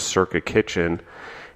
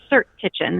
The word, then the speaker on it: Cirque Kitchen: after this, which is Circa Kitchen. And, and I'll make sure I pronounce it correctly, but it's Brendan Becker. And Brandon Becker. It's Cirque Kitchen. It's pronounced like Cirque du Soleil.